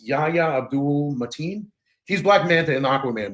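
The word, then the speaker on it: Yahya Abdul-Mateen: was Black Manta I I always say his name wrong it's Yaya Abdul matin he's black man in Aquaman movies okay and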